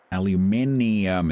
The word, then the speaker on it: aluminium: Aluminium. It's got an extra eye in it.